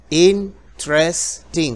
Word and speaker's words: interesting: la pronunciación de eso la E que va después de la t no se pronuncia Y en vez de pronunciar interesting cuatro sílabas se hacen solamente tres interesting otra vez interesting como que fuera interesting